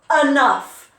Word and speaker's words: enough: Then we've got enough. So we go back to this sound, enough, enough.